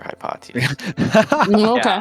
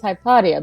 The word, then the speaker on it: Hypatia: pronouncing the name wrong I thought it was hypotia but then later I've told it's maybe hypatia I don't actually know but uh okay whatever